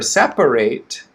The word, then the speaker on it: separate: sorry the adjective for separate is separate two syllables separate separate separate okay so that first uh syllable is still stressed and the second one is with the schwa right separate okay so